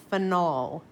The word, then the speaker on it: phenol: a finel group so I over pronounce the o on purpose I call this phenol that is different from